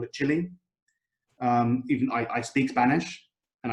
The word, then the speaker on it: Chile: And so I call it Chile. Even I speak Spanish, and I know that it's pronounced Chile in Spanish, but I still would use the English way of pronouncing it.